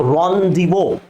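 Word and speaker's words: rendezvous: बाय द वे, लेट me tell you, this is pronounced रॉन्डिवो।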